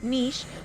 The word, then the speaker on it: niche: niche audience very very Niche and yes the word Niche is pronounced Niche it can be pronounced Niche or Niche but the original pronunciation is actually Niche so some people try